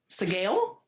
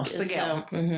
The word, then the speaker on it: Sgaeyl: So, like, the ending is more like a gale, but that SG. Segale? It could be scale or scale. Scale. No, Segale. Segale. Like Miguel? Segale. So it's really, the emphasis is on the first few letters, the SGA.